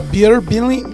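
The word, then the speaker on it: Bir Billing: Uh, beer billing. Billing beer. B I R Billing.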